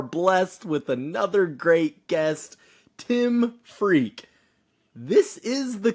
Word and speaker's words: Tim Freke: today we are blessed with another great guest Tim freak this is the correct pronunciation of his name I know that if